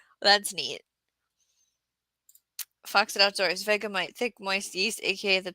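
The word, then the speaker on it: Vegemite: Vegamite is the pronunciation.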